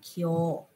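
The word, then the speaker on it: 今日: Đọc là kyo.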